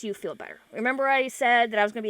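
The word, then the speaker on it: Samhain: m h a i n but it is pronounced sa all right uh just because you observe the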